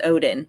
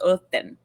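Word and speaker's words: Óðinn: It's not pronounced Odin, so I say it correctly. In modern Icelandic, it's Othin.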